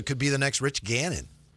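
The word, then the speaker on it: Gannon: When When you're when when when your quarterback's name rhymes with Canon, man. Yeah. Not Canon man. Just Ganon. Cannon. Ganon.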